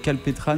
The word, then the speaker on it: Kalpetrane: et on s'est dit vu qu'on aime bien la prononciation à la française on rajoute le E puis en le prenonce scalptran comment ça s'est formé votre groupe calpétran c'est une bande d'amis